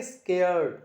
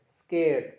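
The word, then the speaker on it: scared: में लिखा हुआ है यूके के अंदर लिखा है आर वहां पर साइलेंट है आर की आवाज नहीं है तो आप क्या बोलेंगे स्केरड स्केरड नॉट स्केरड स्केरड नहीं बोलेंगे स्केड स्केड स्केड स्केड okay USA के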